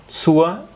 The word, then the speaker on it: zur: Zur, como termina en R, es como Z-U-A. Dependiendo de la zona, también hay zonas o más bien acentos que pronuncian la R al final cuando es zur.